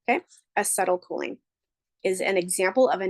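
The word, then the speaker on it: acetylcholine: CLE choline I went ahead and wrote it phonetically for you because it is kind of a funny sounding name okay aetl choline is an example of a neurotransmitter cool cool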